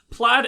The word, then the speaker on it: Plaid: McBackstab, Hell on Heelys, Jay Hun, Jespacito 2, Larmachi, Lysevening Bolt, Marth Warcriminal, Morga Lorgan, Plaid Arrow, played is pronounced like the pattern, Ranger Man Sam, Shen